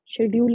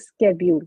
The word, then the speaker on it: schedule: शेड्यूल नहीं बोलना, इसकी प्रोनाउंसिएशन शेड्यूल नहीं होती। जिसने शेड्यूल बोला उसकी पिटाई होगी, मैं बहुत बार अपनी क्लास में बता चुकी हूँ। This is स्केड्यूल, स्केड्यूल।